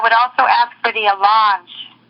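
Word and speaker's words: allonge: something and I would also ask for the a launch it's spelled a-l-l-o-n-g-e I have an alarm sitting right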